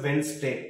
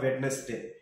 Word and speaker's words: Wednesday: now we completed even in english you need to pronunciate this as wednesday not wednesday wednesday then here you need